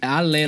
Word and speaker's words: Halais: Não, Halais escrito, mas se pronuncia Halé. Alé, na verdade.